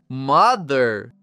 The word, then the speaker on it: mother: Na palavra mother, o som do vai parecer o zumbi do que as abelhas fazem. Então, ao mesmo tempo em que produzimos o som do th, vamos dizer mother.